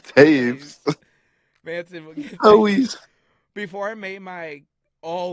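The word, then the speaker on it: Toews: pronounce his name right you said toes I said no it's Taves before I made my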